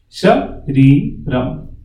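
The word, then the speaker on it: शरीरम्: First A is short, so it is not Sha. It is Sh. Shariram. Shariram.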